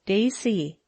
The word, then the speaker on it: Gracie: one of my names that is the way it looks on paper but I pronounce it Daisy I'm a big tall